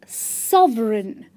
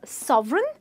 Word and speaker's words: sovereign: It's pronounced as sovereign. Now, remember, in the word sovereign, the G is silent, meaning one does not pronounce this G. So the word becomes sovereign, and the meaning of sovereign is monarchy or autocratic rule.